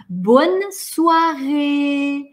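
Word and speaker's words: bonsoir: вина у них одинаковое окончание звука у а произносим месте у-у-у-у-у-у смотри потянули улыбки суар ли бонсуа бонсуа и подаст поскольку мы тянем и воздуха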